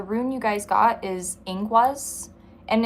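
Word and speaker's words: Ingwaz: And the rune you guys got is inguaz. And it's uh that's how it's pronounced. Um if you guys want to like look it up yourselves, it's i n g w a z, but it's pronounced inguaz.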